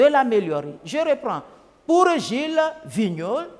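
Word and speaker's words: Vigneault: je reprends pour Gilles Vignol Vignol s'écrit V i G n e a u l t je cite tous les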